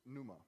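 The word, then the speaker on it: pneuma: that God has his numa numa actually if you want to pronounce the PI the P that's what he is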